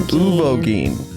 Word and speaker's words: Uvogin: The strongest member of the troop was this guy called Uvoin. But that's how we say his name. Uvoin.